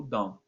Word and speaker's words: don't: Que ele fica o don't. E o T ele é quase mudo.